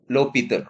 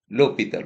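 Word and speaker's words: L'Hôpital: H is silent here. So L, L'Hopital rule. H is silent, so we are calling as L'Hopital rule.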